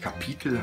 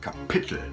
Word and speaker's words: Kapitel: Und zwar haben wir erst nach der Hälfte der Aufnahmen nochmal im Ausspracheduden festgestellt, dass es nicht Kapitel heißt, sondern Kapitel.